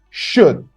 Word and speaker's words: should: For example, should. The L is silent.